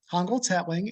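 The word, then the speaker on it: Hongoltz-Hetling: just introduce myself hi my name is hongold's hatling and you did a wonderful pronunciation job well done uh 12 years ago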